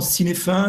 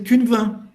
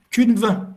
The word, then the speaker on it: Cynefin: l'habitat en gallois et beaucoup de gens le pronom si les fins in fine est en fait faudrait prononcé qu'une 20 qu'une vin parce que c'est du gallois le modèle c'est si